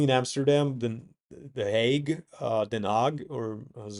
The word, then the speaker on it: Den Haag: or so, mainly in Amsterdam, then the Hague, Den Haag, or as it's properly pronounced.